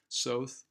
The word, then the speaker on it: Soth: the website that it's South it rhymes with both um so it is